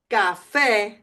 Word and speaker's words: café: Café, café, café. And because the A has an accent, you want to stress that part of the word.